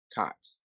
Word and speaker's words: KOTS: It's called COTS. And anybody who knows me, definitely look out for COTS. It's spelled KOTS.